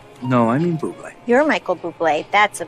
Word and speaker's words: Bublé: You mean bubbly. No, I mean buble. You're Michael Bublé. That's a bubbly. She's right, Michael Bublé. It's pronounced buble.